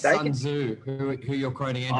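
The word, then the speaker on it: Sun Tzu: I think it's Sunzu who who you're quoting from him. Thank you Andrew. Thank you for appreciate you watching. Sunzoo you pronounce it right.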